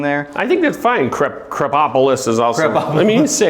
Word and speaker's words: Krapopolis: Dan Harmon, and we're going to talk about Krapopolis. Krapopolis? How do you say it? Give me the official. Krapopolis.